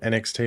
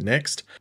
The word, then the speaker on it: NXT: says Network debut so they have WWE next I think that's how you pronounced it not NXT but next uh which I'm not